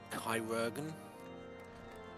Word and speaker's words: chirurgeon: That word, I believe, is pronounced Chirurgeon.